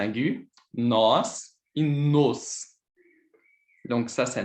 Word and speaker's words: nós: avec cet accent aigu, nós et nos. Donc ça, c'est nós. Et ici, c'est nos. Donc, ce sont des mots, sont différents. Et c'est très important, cette prononce de le O qui est différent.